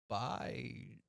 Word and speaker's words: Baijiu: so what I know about Baiju Yeah, is that it's pronounced Baiju.